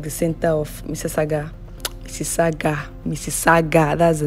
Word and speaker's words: Mississauga: Mississauga, that's the name. Before I learned how to pronounce this this city, it was I used to just say anything I like.